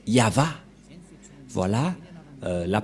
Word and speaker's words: Yahvah: et he et la prononciation de ceci c'est yava voilà euh la prononciation